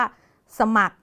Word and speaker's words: สมัคร: ต่าง ประเทศ นะ คะ เรา จะ ไม่ ออก เสียง ตัว รอ นะ คะ เรา จะ ออก เสียง แค่ ตัว คอ เท่า นั้น ก็ จะ อ่าน ออก เสียง แค่ ว่า สมัคร นะ คะ ตัว นี้